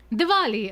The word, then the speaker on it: Diwali: Diwali.